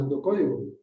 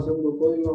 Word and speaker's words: pseudocódigo: Fíjense bien, la palabra pseudocódigo, jóvenes, lleva una P antes de la S. No se pronuncia, pero se utiliza. Ok, Ok, entonces el pseudocódigo lo vamos a hacer rápido.